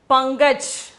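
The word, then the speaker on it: पंकज: Here, before the ka, we have to pronounce it as inga, inga. Sariya? Okay, pankaj.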